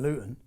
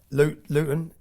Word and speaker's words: Luton: Luton Luton, we don't pronounce our T's in Luton, but Luton is 30 miles north of London.